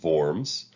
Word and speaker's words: Worms: of forms it looks like worms but it's pronounced forms and that was between the Emperor and the